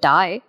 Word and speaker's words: die: the for the for please don't pronounce this word which looks like the English word die as D this is the German word d and this is for